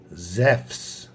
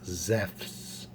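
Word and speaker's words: Ζευς: so zeus is pronounced zephs the u is actually a v sound so it's zephs uh zeus also has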